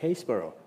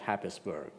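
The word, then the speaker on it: Happisburgh: family called the Hendersons in a town called Hayesboro Norolk. For those of our you know international audience that as I originally thought is not pronounced Hapisburg. Right. So Hesboro is a very old town.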